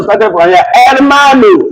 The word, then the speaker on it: hermano: I started with hermana, not hermana. You are wrong. It's the pronunciation started from here. Hermano, not herman.